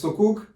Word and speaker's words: sukuk: The first is sukuk, and I pronounced it sukuk in the other video, I don't know why, but it's sukuk.